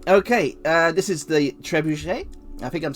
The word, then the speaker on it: trebuchet: uh this is the trebuchet i think i'm saying that correctly you don't pronounce the t on the end here absolutely beaster but we're